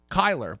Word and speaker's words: Kyler: said last week is Kyle with an r at the end of it Kyler but it's pronounced anywho